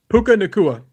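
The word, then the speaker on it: Puka Nacua: before I do, like what how do you pronounce the last name of this wide receiver from the Rams? Puka Nua.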